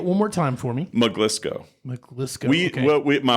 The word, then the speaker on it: Maglisceau: name that a lot of people literally can't pronounce which is that's the whole impetus for Dr so mlco is the last name uh it's made up